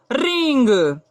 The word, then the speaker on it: ring: आप rule number 1 में पढ़े हैं कि यदि लास्ट में जी हो, जी के बाद कोई वर्ड ना हो, यानी लास्ट में जी हो, तब वहां जी की साधारणतः क्या होगी, जी की ध्वनि ग होगी, तब यहाँ जी की ध्वनि क्या होगी, ग। तो ये हमारा क्या हो गया, RING, इसे हम लोग क्या पढ़ देंगे, रिंग।